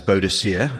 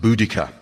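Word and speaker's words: Boudicca: She's been known as Bodisier. Uh but a group of Cambridge linguists recently insisted from a study of protoeltic languages that bodisier must be pronounced budika.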